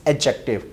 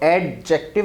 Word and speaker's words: adjective: So guys, यहाँ एक चीज़ आपने याद रखनी है कि डी को आपने साइलेंट लेना है. नॉर्मली स्टूडेंट कह रहे होते हैं एडजेक्टिव, तो एडजेक्टिव नहीं कहना, एडजेक्टिव. डी यूज एज a silent.